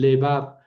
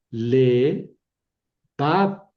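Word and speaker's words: לֵבָב: Lo mismo por ejemplo en levab corazón le bab. y va ahí cae el acento y es una sílaba cerrada, pero tiene boca larga, ¿verdad?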